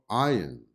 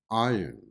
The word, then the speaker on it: iron: And the word iron, iron, which has 4 letters when written and 4 sounds when produced. However, there is not an sound in the pronunciation of the word iron, iron, not sound.